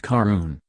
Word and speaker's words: Caarun: Pronounced Carun, which is the Gaelic word for rowan berry, a Celtic botanical that is the essence of the gin's flavor.